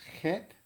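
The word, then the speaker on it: cheth: the hebrew letter is het spelled c h e t h numerical value eight english equivalent is c or ch and it's sometimes pronounced uh like ha so the word hanukkah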